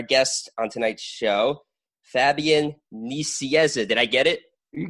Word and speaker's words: Nicieza: It is Fabian Nicieza, but since you are American, you're allowed to pronounce it Fabian Nicieza, whichever.